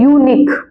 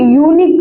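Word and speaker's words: unique: आएगा आगे देखते हैं यूनिक बताओ यहां पर क्या साउंड आ रहा है यू यू का यू यूनिक यूनिक मैन यू का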